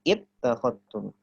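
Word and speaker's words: اتخذتم: Hamzah wasol itu kalau di tengah tidak dibaca. Kalau kita baca dari summa maka dia tidak dibaca. Bacanya summat langsung ke to. Summat takhadtum. Tapi kalau dibaca dari kata tersebut bacanya ittakhadtum. Dibaca kasroh.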